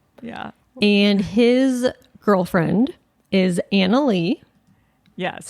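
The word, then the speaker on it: Anali: cyber security analyst yeah and his girlfriend is Anna Lee yeah yes spelled a n a l i anal anal I an how it's spelled yeah um so he has two guinea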